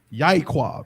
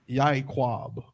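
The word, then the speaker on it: יעקב: Who knows how Jacob's actual name in ancient is said? Yaquab, right? And it's spelled, let me get it right. It's a Ya, I think a I, a Qua, and a Ba, I believe. It's like Yaquab.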